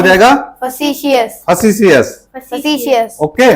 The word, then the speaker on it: facetious: इसका उच्चारण क्या हो जाएगा? फसीसियस क्या हो जाएगा? facetious, फसीसियस।